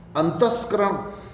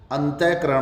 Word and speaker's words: अंतःकरण: अंतस्करण नहीं भाई, अंतस्करण नहीं होगा संधि होने पे, अंतःकरण होगा।